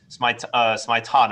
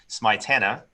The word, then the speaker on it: Smietana: doing an interview and i said your name wrong i said miss maitana and it's miss smitana tana yes they were like